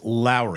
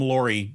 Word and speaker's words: Lauri: it's not L it's Lowry is it really it is Lowry Marin like Mike Lowry from the Bad Boys movie it's like Lowry Lowry